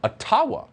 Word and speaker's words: Ottawa: let the mayor of ottawa or otawa as it's correctly pronounced in a jibba explain why peaceful truck